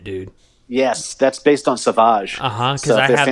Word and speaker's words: Sauvage: Is it Savage or Sauvage? Sauvage.